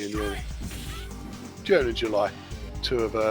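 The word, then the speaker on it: Juni: Yeah, Yuri and Uni, even though they're spelt with J's. It's showtime. They are pronounced Yuri and Uni.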